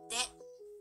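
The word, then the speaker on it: デ: It is now pronounced as de, te, de, de.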